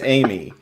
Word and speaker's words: AMI: It's Amy. Then it's eight. this is how you lose friends, folks, is you just mispronounce acronyms and everyone gets angry.